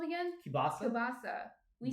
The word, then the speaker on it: kielbasa: Yeah, we say kibasi. Kibasi? Yeah. Maybe I'm saying it wrong, though. No, New Jerseyans don't say it right.